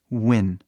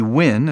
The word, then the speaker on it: win: né Muito muito rápido você começa com boca fechado né de u ua u a né abrindo assim por exemplo essa palavra aqui wien oen ele começa fechado de U né vem o Double u que tá aqui né O u começa fechado de U E aí abre rápido Win que Win essa palavra